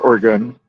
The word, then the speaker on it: Oregon: It's pronounced Oregon.